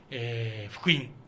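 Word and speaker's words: 福音: 福音、幸福の福に音楽の音と書いて、福音と読みますね。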